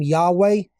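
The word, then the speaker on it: Yahweh: would be another H so YH VH gives us the name yahe if we transliterate it okay and that is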